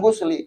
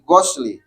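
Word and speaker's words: غسلِ: Dan perlu diingat niatnya bacanya jangan gusli ketika pas waktu melafazkan. Contoh. Nah, apa tadi ada bahasa di sini tadi gosli, ya. Ketika pas waktu kita baca gosli dengan gusli beda patah dengan domah, nah itu nanti beda artinya.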